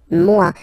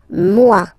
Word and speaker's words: moi: Moi. So remember, this O-E combination gives you the sound wa wa wa. Moi.